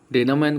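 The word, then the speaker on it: denouement: इसका प्रोनाउंसिएशन सबसे पहले समझते हैं। डेनोमेन कहते हैं इसको, इसका मतलब होता है मूव कह सकते हो, कदम कह सकते हो।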